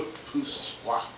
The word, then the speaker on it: repoussoir: Then there's another little dark in the foreground that we call a repoussoir. That's pronounced correctly. You go, repoussoir, you know.